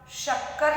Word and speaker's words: शक्कर: जैसे आपने बोला शक्कर लिखना है और आप इसको लिख रहे हो शक्कर, तो स सरोते का नहीं लिखना है, उसमें श शलजम का, और बोलना भी क्या है आपको?